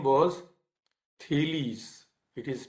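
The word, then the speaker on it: Thales: first philosopher so to say his name was tillys it is p h a l e s but it is pronounced thelies so thelies belong to myelitis and he was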